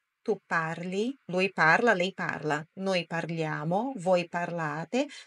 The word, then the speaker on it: parlano: parli Lui parla lei parla noi parliamo parlate só aqui muda aaba tônica ou seja aquela sílaba forte na pronncia né no par Loro parlano não parlano parlano ok parlo tu parli